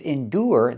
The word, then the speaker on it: endure: With endure the ure makes a sound. The long oo like food. Oo plus the r. Endure.